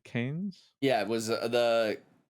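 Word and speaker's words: Cairns: um what'd you say canes yeah it was the the c-a-i-r-n-s one that's canes and then Aussie like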